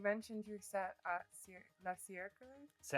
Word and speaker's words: Cercle: You mentioned your set at La Cercle. French, yeah, they pronounce it French. It's the crew comes from Paris, so it's Cercle. They would hate to hear me say that. Yeah, no, it's a circle.